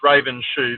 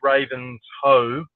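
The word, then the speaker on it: Ravenshoe: um So Raven so which looks like it's Raven's shoe but it's pronounced Raven's hoe you've got to break it up correctly is to the right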